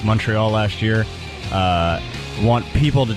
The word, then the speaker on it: Montreal: you're from Canada, but people say Montreal. And then Montreal is how Canadians say it, apparently. And now you've adopted the Canadian pronunciation of what Americans call Montreal.